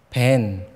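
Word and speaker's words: בן: 아들이라는 단어와 굉장히 비슷하게 발행됩니다 돌은 에벤 아들은 벤 굉장히 비슷하죠 예수님도 유대인이시니까이 발음에 비슷함을 알고 계셨어요 그래서이 두 발음을 가지고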